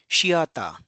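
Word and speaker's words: シアター: So theater becomes shiata. Shia shiata. Theater is shiata because the is perceived as the th is perceived as s.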